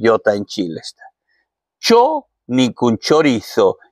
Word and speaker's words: chorizo: Ja nyt haluan tämä Espanjan ääntäminen. Chorizo. Ei chorizo, vaikka minä venezuelalaisena sanoisin chorizo, koska me lausutaan se Z niin kuin as. Silti kyllä tämä on niin espanjalainen, se ansaisi sanoa kunnolla chorizo.